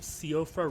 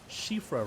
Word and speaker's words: Siofra: And it may look like the name of this place is called Siofra River, but it's an Irish word, so it's actually pronounced Shifra River, and it means fairy.